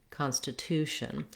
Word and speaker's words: constitution: syllables which are stressed the main syllable stress is on the two Constitution therefore that has a clear vowel and you're going to hold that syllable longer like I usually recommend